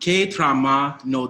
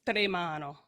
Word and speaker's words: tremano: Guardi le stelle che tramano d'amore. Okay, real quick, it's tremano. Tremano.